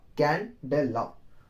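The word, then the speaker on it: candela: एंड कैंडेला, कैंडेला। अब pronunciation में जानिए, कैन प्लस डेला, इसका है तो आपसे क्या लिखेंगे, सीडी।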